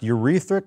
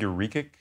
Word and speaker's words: uric: that it was increasing, is it pronounced urethric acid? Do you know what I'm... I think uric. Uric acid, yeah.